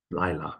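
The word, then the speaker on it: לילה: Vayavo Moshe betoch ha'anan vaya'al el hahar vayhi Moshe bahar av arba'im yom va'arba'im laila. Lila, so it's first syllable, Lila, right?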